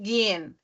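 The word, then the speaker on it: gehen: e n então faren o verbo gen g h e n aí parece que tem vai vai ter três e assim um do ladinho do outro né aquele H ele some assim na na na fala né Bota um e ali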